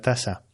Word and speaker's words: taza: enojo a la pronunciación vale tasa pero se escribe con zeta taza taza bueno pues si